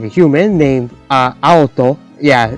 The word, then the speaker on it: Aoto: like a human named Aoto. Yeah, it's spelled like A-O-T-O, and it kind of sounds like auto, like a car.